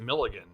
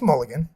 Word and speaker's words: Mulligan: was an actual question is her name actually Mulligan or is it Milligan no it's Mulligan oh my God a